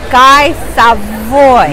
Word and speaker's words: Guy Savoy: To be cool, to run my Chef, I know I say your name wrong. It's Chef Guy Savoy.